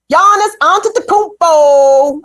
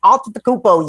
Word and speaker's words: Giannis Antetokounmpo: Giannis Antetokounmpo. Fine as fuck. Woo! Anyway, I'm sorry, Chuck Modiano. Don't let me diminish your. No, I was really impressed. Can you say his last name again? Giannis Antetokounmpo.